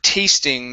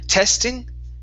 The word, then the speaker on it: tasting: to the word um tasting this is a long a sound right here instead of testing okay A T tasting